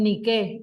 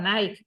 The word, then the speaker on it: Nike: las zapatillas deportivas pero no son Nike se llaman nique que significa Victoria vencer en griego eh Por tanto las cosas tienen una explicación mucho más clara en inglés no existe la lo lo pronuncian al anglosajón a Nike pero de Nike nada es ni qué eh que significa vencer Victoria Y eso significa que si